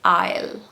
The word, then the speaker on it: aisle: This one is aisle. Aisle. No S. Okay? Silent S. Push the S out. It's supposed to be aisle.